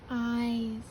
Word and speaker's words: eyes: Eyes. Do you hear the I saying its own name? Eyes. The silent E there, you can't hear it.